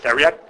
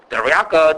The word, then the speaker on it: theriac: I pronounce it theriac. That's how we would say it. Of course, we go triaco or dariaka, different ways of saying it.